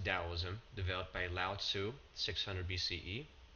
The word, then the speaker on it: Daoism: the rise of Daoism sometimes spelled with a t but it's pronounced DSM developed by Lau 600